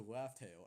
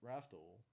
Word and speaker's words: Raftel: Raftel as, legit Raftel, they didn't pronounce it like, oh, you want to know how to get to Laugh Tale? I could tell you. It's like, no, it's Raftel, with an R.